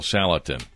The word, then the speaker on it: Salatin: your guest speaker uh and how do you pronounce his name again Joel salatan Joel salatin and uh he is a farmer and uh